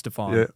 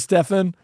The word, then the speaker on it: Stefan: I'm going to go with Stfan. Yeah. And And if you want to go with Stefan, it's okay. Well, it makes no difference. It's just two ways of pronouncing it.